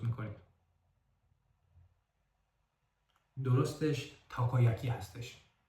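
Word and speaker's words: たこ焼き: بذارید امتحان کنیم این کلمه رو شما چطوری تلفظ می‌کنید درستش تاکایاکی هستش و یا این یکی درستش اونی‌گیری هستش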